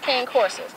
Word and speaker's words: Cane Corso: I was saying it wrong. It's Cane Corso.